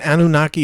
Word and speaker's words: Anunnaki: And Anunnaki is spelled Anu, like Anu is the chief deity, and Naki, Nnaki.